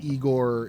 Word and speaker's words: Igor: then in one of the later frankenstein movies igor is a like burly blacksmith type it's pronounced i go yes um but there is